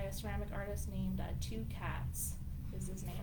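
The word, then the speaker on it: Tukaets: ceramic artist named uh two cats this is man it's spelled very interesting but um it's a t-u-k-a-e-t-s oh two cats yeah like that yeah thank you studio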